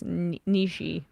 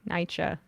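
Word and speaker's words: Nietzsche: like me trying to pronounce Nishi Nicha Nishi I said Nicha one time and people never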